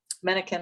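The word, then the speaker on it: Menakem: macy marcia lineham resma mannequin mannequin i believe is pronounced sorry about that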